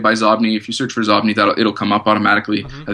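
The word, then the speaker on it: Xobni: What about Zobni? You use that as well, right? And I don't know if I'm pronouncing that right. I'm assuming it's Zobni. It's spelled with an X-O-B-N-I. Yeah, I think it's Zobni.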